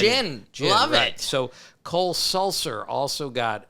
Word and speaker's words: Gin: JT Gin pitched, but it's spelled G I N. Jin.